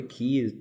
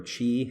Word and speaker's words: ki: Really, key or chi, however you want to pronounce it, key for D&D, it's the same.